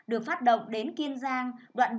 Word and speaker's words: Kiên Giang: Kiên Giang, các con chú ý cho cô vần yên trong tiếng Kiên, đọc là Kiên Giang.